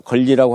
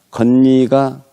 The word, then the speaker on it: 이건희: 걸리라고 할까요? 이건 고유명사이기 때문에 걸리가 아니라 건리가 맞다고 생각을 합니다.